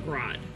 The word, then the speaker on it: Grod: God damn it, where the Bear, you summon Grod. We're summoning Thony. You gotta say it with the accent or else you're pronouncing his name wrong.